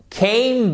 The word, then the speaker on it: came: Came. Vous avez une diphtongue ici qui est forte. Comme toutes les diphtongues d'ailleurs, mais c'est vraiment un son qui est puissant.